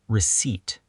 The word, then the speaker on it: receipt: Receipt is pronounced receipt. The P is silent.